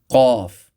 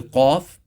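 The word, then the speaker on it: ق: Going back to qaf. Qaf is pronounced with the extreme back of the tongue touching the soft palate and the uvula.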